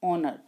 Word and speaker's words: honor: So this is, we can use with it N, because sound is not H, though it begins with H, but it is not pronounced honor, it is pronounced honor.